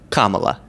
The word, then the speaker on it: Kamala: Kamala. They say every configuration of syllables and pronunciations except for the correct one.